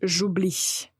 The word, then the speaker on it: j'oublie: pas trop difficile mais il ne faut pas oublier de prononcer la lettre i donc on dit j'oublie et par double ou